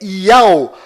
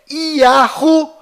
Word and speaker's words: יהו: Toda vez que estas 3 letras sagradas são pronunciadas dentro de Israel, fazendo referência ao Altíssimo, sua pronúncia sempre é Iau. Porém, fora de Israel, estas 3 letras recebem diversas pronúncias. As mais usadas fora de Israel é Iahu ou Ierro.